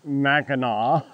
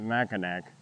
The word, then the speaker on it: Mackinac: Whence we have some very French or quasi-French sounding names, such as Mackinac, which you can always tell somebody that's not from here, they pronounce it Mackinac. It's Mackinac.